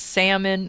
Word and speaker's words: salmon: And ooh, of course I know it's actually pronounced salmon.